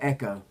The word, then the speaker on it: Echo: You said Echoes in 5, and it's Echo in 5.